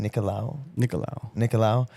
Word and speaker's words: Nicolau: I've also seen that he how do you pronounce his last name? Nicolau.